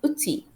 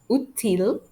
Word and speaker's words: outil: Final L is usually silent after the letter I, which means when a word ends with IL, we don't pronounce the letter L.